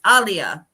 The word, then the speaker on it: Aaliyah: Or I guess I should say I always struggle with how to say her name because it's not how everybody thinks. It's Aaliyah. Aaliyah, not Aaliyah. It's right.